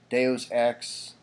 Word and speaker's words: Deus Ex: You see the little buy new there for Warhammer and buy new for Deus Ex. That's how you pronounce it, folks, by the way. Don't say Deuce, it's Deus, thank you.